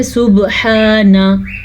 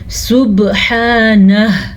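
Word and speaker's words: سبحانه: نے صحیح پڑھ لیا، اکثر لوگ آخر میں جو ہا آتا ہے اس کو پڑھتے ہی نہیں ہیں، اس کی تلفظ کی ادائیگی نہیں کرتے، یعنی کہ پڑھ لیتے ہیں سبحانہ، یہ غلط ہے. ہم نے پڑھنا ہے سبحانہ، ہا کی آواز آخر میں آنی چاہیے کیونکہ ہا موجود ہے.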